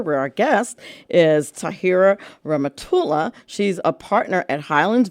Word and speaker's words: Rehmatullah: So please welcome to the show, Tahira Rehmatullah. Hello. Hi. Am I pronouncing your last name right?